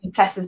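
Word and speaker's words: du Plessis: It's written Duplessis, but I think you pronounce it Duplessis.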